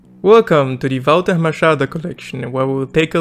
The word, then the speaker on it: Walter Machado: has been very very productive and yes it's pronounced Volta Machado since he is from Zil but I will